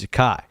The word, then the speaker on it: Zakai: However, he goes, "It's Zakai." I want to make sure everyone gets that right. It is Zakai.